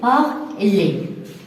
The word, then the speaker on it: parler: Donc, ces verbes, la lettre R ne se prononce pas. On dit manger, parler.